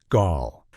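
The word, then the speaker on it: Gaahl: One of the most famous and intimidating figures from this scene is a singer who goes by the name Gal, pronounced Gaul.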